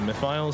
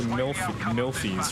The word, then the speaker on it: Mythiles: then goes to Mythiles, so more people can mispronounce the name. Please, believe it or not. I say his name right. All the proper Yeah, no, but a lot of people thought it was Milfies for some reason.